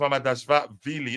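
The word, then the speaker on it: Mamardashvili: It's pronounced Mama Dash Valley. Is that Vili? The last part of it is pronounced Mama Dash Vili.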